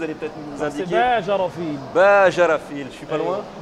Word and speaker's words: Bajrafil: un amoureux de la précision, m'aider à le prononcer. Vous allez peut-être nous indiquer. C'est Bajarafil.